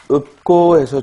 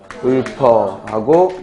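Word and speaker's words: 읊다: 다음 읍고에서 주의할 점은 이게 리을 피읍은 대표음이 비읍으로 나니까 기본형이 읍다고 그리고 읍고 하고 발음되고요. 반면에 뒤에 모음의 어미가 오면 그때는 어떻게 돼요? 읊어하고 연음해서 읊어하고 발음이 되죠.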